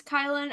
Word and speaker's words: Kylin: My name is Kylin, otherwise known as Kyle with an N.